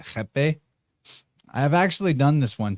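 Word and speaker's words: rapé: It's spelled like, it looks like it's spelled rape, R-A-P-E, but they pronounce it jepe.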